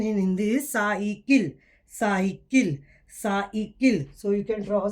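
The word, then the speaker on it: साइकिल: So just in English, just like in English, you say cycle, but the pronunciation in Hindi is cycle.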